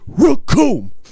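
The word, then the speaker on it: Recoome: Yeah, so like the Raccoon, when he comes out, the name's Raccoon. It rhymes with doom.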